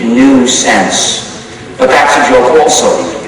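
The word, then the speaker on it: gNewSense: gance spelled g nuisance so uh new sense the distribution sounds the same way but it's spelled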